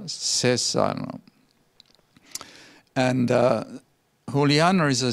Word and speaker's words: Cesano: here who Liana cesano I always pronounce HSR no because in Italian it's chaser no but it's who Liana says on and who Liana is